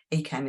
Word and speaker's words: ACAMH: and Twitter at acam acam is spelled a-c-a-m-h and don't forget to